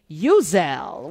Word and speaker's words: Uzzell: when I see her, she reminds me of a Uzi, the way she comes powerfully into the world. But that's not how you pronounce her name.